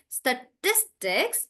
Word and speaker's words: statistics: So we have to read it like statistics. So I'm stressing on tis.